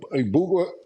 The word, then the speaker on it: Egbuka: Ibuka, Emeka Egbuka.